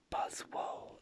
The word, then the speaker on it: Buzzwole: I know Buzzwole is pronounced Buzzwole because its name is a combination of a buzz, like the sound that bees make, and swole, as in this, and swole.